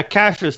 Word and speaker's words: Kassius: it was it's cat Cassius oh no yeah Cassius like Cassius Clay I have been saying